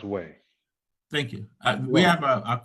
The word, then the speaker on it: Wei: W-E-I, because it's pronounced Wei.